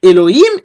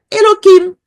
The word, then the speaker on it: Elohim: una K entonces aquí Elohim se puede pronunciar Elohim y los judíos a veces dicen Elohim y a veces dicen eloim porque ellos saben que la g es en realidad una K comparamos aquí aquí